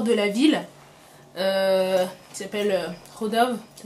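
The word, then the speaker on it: Chodov: Qui s'appelle Rodov. Ça s'écrit C-H-O-D-O-V.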